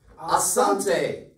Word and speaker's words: asante: thank you in swahili to say thank you asante am i pronouncing that correctly absolutely ken's west can you have a go at saying thank you in swahili asante great job everyone well done have a good